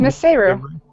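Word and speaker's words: Misseru: Missaru? It's Miss Seru.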